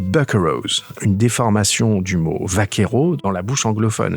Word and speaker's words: vaquero: Les buccaneros, une déformation du mot vaquero dans la bouche anglophone. Le V en espagnol se prononce souvent B, donc ça donne vaquero, et donc prononcé à l'anglaise, c'est devenu buccaneros.